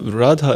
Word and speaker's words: Radha: different meaning or something no Radha is a long A rad yeah no Radha Radha Radha okay I so the